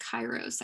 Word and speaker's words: kairos: an excellent observation and yes you're right it is pronounced kairos i realize with everything